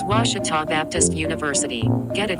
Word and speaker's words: Ouachita: Back in Texas, everybody pronounces it Wichita, but really it's Ouachita. Ouachita. Ouachita. How would you pronounce it? Ouachita. Ouachita. It's Ouachita Baptist University.